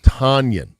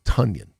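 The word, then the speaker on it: Tonyan: We called him Tanyion. Mhm. He finally after two years cuz he felt secure enough having made the team. He's like, "By the way, it's it's Tanyion."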